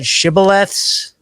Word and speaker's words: shibboleths: Vagabond Substack article, Shakedowns, and how do you pronounce that? Shibboleths?